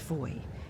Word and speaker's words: Fowey: Spelt fou pronounced voy.